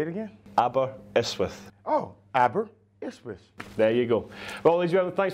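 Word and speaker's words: Aberystwyth: Oh, abberwith.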